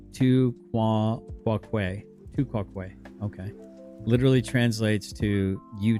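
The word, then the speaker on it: tu quoque: Um, so, uh, pronounced tua quaquay. Tuaquay.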